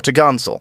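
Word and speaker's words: topgallant: Sail pronounced topsil and four top Gallant sail pronounced for to gansel on the main Mast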